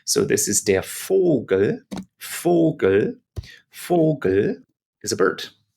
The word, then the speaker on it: Vogel: Then we come back to vowel, the letter V in German, and it's pronounced, if you can remember, like letter F in English. So this is der Vogel.